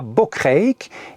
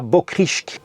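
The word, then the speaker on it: Bokrijk: Donc IJ, c'est une terminaison néerlandaise qui se prononce EI. Je ne peux pas le dire autrement. Donc ce musée se trouve à Bokreek et non pas à Bokrisk.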